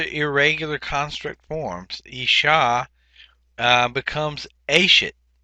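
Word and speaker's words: אֵשֶׁת: Under Isha, and again, these are irregular construct forms, Isha becomes Ashet. The accent is actually on the first syllable here, and then so it goes Isha, Ashet, Nashim, and then Neshe for the construct plural.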